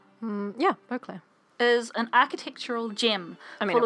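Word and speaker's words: Beauclair: the duchy beau claire is that the right pronunciation yeah beaucler is an architectural gem full of glorious alvin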